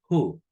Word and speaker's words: who: And we don't pronounce the W, la H no se pronuncia, pronunciamos who.